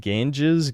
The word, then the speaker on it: Ganges: Ganges.